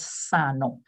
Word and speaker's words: Sahno: The coaching practice is called Sano, which is spelled SAHNO.